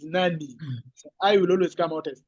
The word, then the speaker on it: Nani: the I but in K the I will pronounce as e that's why you say Nani you don't say n it's Nani I will always come out yes okay so